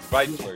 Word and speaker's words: Zweifler: Central Works, the new play theater headed up by Gary Graves and Dan Zweifler. I think that's how you pronounce it. It is. ZV, Zweifler, yeah.